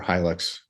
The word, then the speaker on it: Hilux: us around the Helix trucks I mean it's pronounced Helix uh or Hilux right anyway I've heard it both ways I read it as uh Helix but I had a guess the 4x4 guest